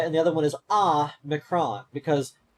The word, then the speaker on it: Omicron: That's why one is O-mega and the other one is Ah-micron, because the Omega is pronounced O, and the Omicron is pronounced Ah.